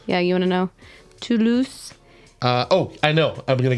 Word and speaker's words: Toulouse: Hey, do you want to know how I knew that you pronounced the name of the town correctly? Toulouse. Yeah, you want to know? Toulouse.